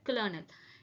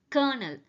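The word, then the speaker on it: colonel: Next முக்கியமான வார்த்தை கொலோனல். இது நம்ம நிறைய மூவிஸ்ல கூட பார்த்திருப்போம். எல்லாருமே இதை வந்து கலோனல்னு சொல்றாங்க. இது வந்து கலோனல் கிடையாது. This is correctly pronounced as கர்னல். Again I am saying கர்னல்.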